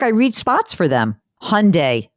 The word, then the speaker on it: Hyundai: read spots for them Hyundai rhymes with Sunday that's what they always